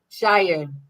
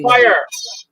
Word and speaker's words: Shire: Yes, Quail, and that's Shawspire, Shropshire, Shropspire, Shire. Shire. See Okay. how you trying to add a P in there? Come on, that's Oh, crazy. Spire. It's Shire, like New Hampshire.